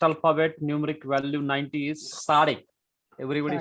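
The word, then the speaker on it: צדי: So actually it is difficult to pronounce because it gives TS sound. Tus, like TS sound in nuts. Nuts. Sade. Sade.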